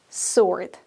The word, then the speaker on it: sword: bit of a double-edged sword it's a bit of a double-edged sword pay attention to the pronunciation of the word sort the W is not pronounced and one more phrase